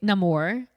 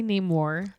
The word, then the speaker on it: Namor: also that's interesting because you say Namor I say name War I'm pronouncing it how he pronounced it in the movie I was gonna say